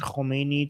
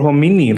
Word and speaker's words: Khamenei: Okay, they suggest Khamenei to Khamenei. Okay. Or Khamenei like small.